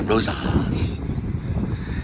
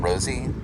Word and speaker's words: Rosa's: And there's Rosa's. If you say it wrong, it sounds like Rosie, but it's actually Rosa.